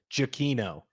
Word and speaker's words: Giacchino: I found out his last name. You pronounce it Jakino. Jakino. Jakino.